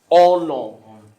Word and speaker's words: honor: hear you h the the H is silent honor and protocol honor is